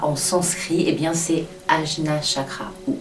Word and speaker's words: Ajna: L'appellation de ce chakra en sanskrit, eh bien c'est Ajna chakra ou Anya chakra, A-J-N-A.